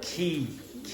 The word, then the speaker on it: quay: No, key, like key. Okay, it's the place beside the river.